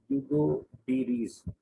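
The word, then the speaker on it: Hugo de Vries: Hugo de Ries. डी silent होता है, Hugo de Ries बोलते हैं.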